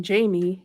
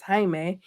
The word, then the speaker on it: Jaime: person pronouncing his name calling him Jamie him correcting that person saying it's Jaime and then her going